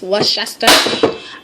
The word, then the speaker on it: Worcestershire: course I can't pronounce worse sister shirt sauce Worcestershire I can't even pronounce that yo yo yo yo yo we